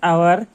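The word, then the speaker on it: hour: They will do ইট in dash আওয়ার and dash half. এখানে কিন্তু এইচ এর উচ্চারণ সাইলেন্ট তাই প্রথমে এন বসবে, আর যেহেতু এখানে এইচ এর উচ্চারণ আছে হাফ তাই এখানে এ বসবে।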